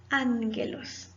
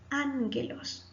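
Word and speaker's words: ἄγγελος: Ho ángelos, el ángel. Recuerde que cuando hay dos gamma, la primera gamma suena como una N. Ho ángelos.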